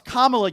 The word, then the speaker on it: Kamala: So, first of all, it's Kamla, you dope.